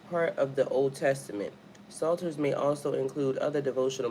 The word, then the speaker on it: Psalter: Psalter.